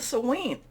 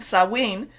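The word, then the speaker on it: Samhain: our past and then the sewing sawing saw wean i know it's it doesn't it's not it's not pronounced the way it's spelled um that's also looking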